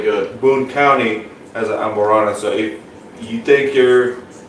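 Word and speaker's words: Amburana: It's a Brazilian wood called Amberana. Did I pronounce it right?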